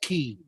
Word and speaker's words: ki: twice more or try I think Jeremy Crawford said it's pronounced key so he rules everything